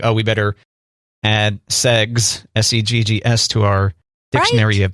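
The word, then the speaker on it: seggs: Instead of sex, it's spelled S-E-G-G-S, so segs.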